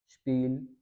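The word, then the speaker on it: Spiel: पी का rule है, एस के बाद अगर टी आ जाए या फिर पी आ जाए, इन दोनों को हमने शीन से पढ़ना होता है एस को, और वही रूल यहाँ पे भी है कि अगर वर्ड के शुरू में हो तो जैसे स्पास, स्पील, स्पोर्ट, स्पीगल। अब स्पास कहते हैं फन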